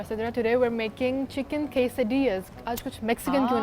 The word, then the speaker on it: quesadilla: L because वो Spanish है तो थोड़ा सा प्यार से हम ना पाइया जैसे पालिया नहीं होता, तो there is नो एल बट quesadilla is something that we are doing today.